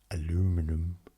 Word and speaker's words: aluminum: I mean, we clearly pronounce things differently, like aluminium, aluminum. We call it aluminium, and we say roof, not roof, because then what would the dogs do?